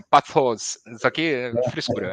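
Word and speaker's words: πάθος: Se pronuncia assim, ó, patos, isso aqui frescura, é patos.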